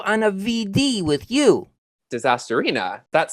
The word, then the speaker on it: Disasterina: Disasterina. That sounds like a great idea. It's pronounced Disasterini.